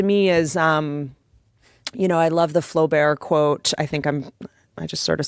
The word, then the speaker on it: Flaubert: and talking and it's like that to me is, I love the Flaubert quote. I just sort of said that really fast in case I'm mispronouncing it. French. Was that right? Flaubert?